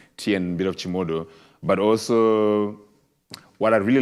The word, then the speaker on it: Chimodho: Chimodho, yes.